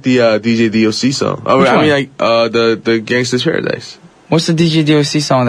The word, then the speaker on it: Gangsta's Paradise: Gangsta without the R. Gangsta. Okay. Just making sure, because no one wants to mispronounce the name of a song, and we need to drop the R. There's no R in the title, y'all. Instead of an ER, there's an A at the end.